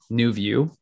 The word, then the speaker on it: NuVu: school students it's a a company called nouveau new view and it's spelled nuvu and it's based in